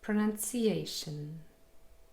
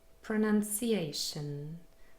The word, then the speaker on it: pronunciation: Pronunciation. Pronunciation. So the main stress is on A.